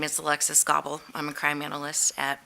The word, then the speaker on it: Goebel: We have crime analyst Alexis Goebel? Okay, you'll have to help me with the pronunciation on that one, and Lieutenant Claudio Lasacco. Welcome. Hi, good evening. Like you said, my name is Alexis Gobble.